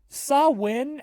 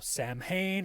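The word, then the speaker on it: Samhain: happens uh oh and I guess I never explained that saw win is spelled s a m h a i n so if you've ever seen that before and you thought it was pronounced you know Sam Hayne or some Hine or whatever no you're wrong you're wrong it's Gaelic it's hard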